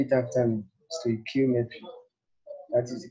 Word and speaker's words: stoichiometry: Say it after me, stoichiometry. That is the correct pronunciation of the topic.